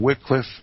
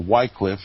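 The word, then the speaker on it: Wycliffe: the book is entitled Wickliffe and the laws or Whitecliff if you choose to pronounce his name that way we're going to talk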